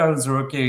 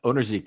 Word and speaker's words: Onwuzurike: So Levi Onwuzurike is a defensive tackle played for the Detroit Lions.